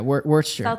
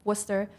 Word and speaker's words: Worcester: Yeah, Worcester. I realized how to pronounce that today.